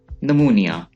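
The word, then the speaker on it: pneumonia: नमूनिया, नमूनिया, नमूनिया में P silent है, नमूनिया।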